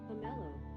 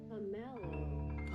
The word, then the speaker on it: pomelo: pomelo Pomelo. Slowly. pomelo Pomelo. That's the American pronunciation. The British pronunciation, because British pronunciation is always so extra, would be pomelo Pomelo.